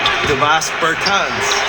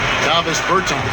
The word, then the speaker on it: Davis Bertans: Oh, well now, at this point in my life, it's Davis Bertans. Is that how you say his name? Davis Bertans. Davis Bertans? Yeah, yes.